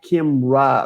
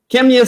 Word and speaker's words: Kemya: say your name wrong i always want to add a like kim ra or something i don't know but it's you know kenya right so kevin is our